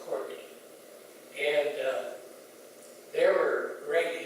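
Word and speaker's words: calked: in the SS and they call it cour but it's spelled c CA l k e d CED but everybody said corked and uh there were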